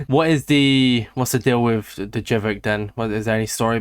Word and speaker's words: Jvckk: There's a couple people that say it differently, but Jvckk is what I would say is correct, yeah.